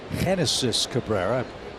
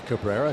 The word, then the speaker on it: Cabrera: It's Cabrera. Didn't mean to say Genesis. It's pronounced Cabrera.